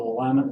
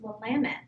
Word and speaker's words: Willamette: I believe I've lived on both of them, the Willamette River in Oregon and the South Saskatchewan in Saskatchewan. And he knew how to pronounce Willamette.